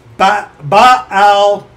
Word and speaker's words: Baal-peor: Your eyes have seen what the Lord did because of Baal-peor, for all the men that followed Baal-peor, Baal-peor, two syllables, the Lord thy God hath destroyed them from among you.